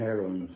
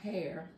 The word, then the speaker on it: heirloom: No, the H is supposed to be silent. Yeah, in this position. Well, this is America, so we pronounce our heirlooms.